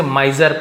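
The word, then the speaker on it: miser: वह बहुत कंजूस था तो इसे माइजर पढ़ेंगे ठीक है आई के बाद कॉन्सोनेंट है फिर ई है यानी कि वॉयल है तो हम वहां पर आई है तो आई पढ़ते यू है तो यू पढ़ते हैं ए है तो ए पढ़ते हैं ओ है तो ओ पढ़ते हैं बट ये हर जगह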